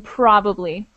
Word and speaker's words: probably: There's a definite emphasis on the first syllable in probably.